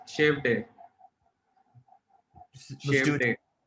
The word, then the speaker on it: Shevade: Name is pronounced as Shave Day.